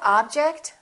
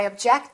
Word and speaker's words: object: i heard the insult do you like that object do you like that object no i object to it no i object to it is